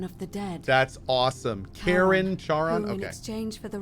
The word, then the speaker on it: Charon: if we were a dude or a chick c h a r o n as in caron the ferryman of the dead that's awesome karen charon okay exchange for the right coin helps